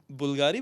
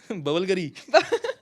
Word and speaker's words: BVLGARI: पर उससे बुल्गारी बोलते हैं, बुल्गारी बोलते हैं, BVLGARI। आपको क्या लगता था कि क्या बोलते हैं? बबलगरी।